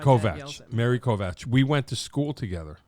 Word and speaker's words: Kovach: I said it wrong already. You said it the way they say it in Hungary. Right. We're in the United States, so I say Kovach.